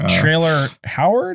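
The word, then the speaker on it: Traylor: sorry not Deborah Messing trailer Howard is that her name that's that's a name yeah trailer spelled like Taylor but with an R after the T trailer Howard is the girl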